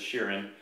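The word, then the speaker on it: Shirren: latest based Cavaliers our next race is the Sheeran I asked how to pronounce that by sutter ease of its shearing they are a race of atomic insectoid I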